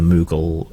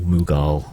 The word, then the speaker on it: Mughal: In India, they were victimized by the Mughal emperors, or Mughal emperors, depending on how you want to pronounce it.